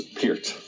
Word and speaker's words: Peart: Please establish once and for all, to all your fans watching, the correct pronunciation of your last name. Oh, okay. It's Peart. It's Peart.